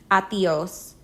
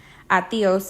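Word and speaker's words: adiós: be the leader here teach your friends to say it in two syllables with the stress on the second one atios since the D comes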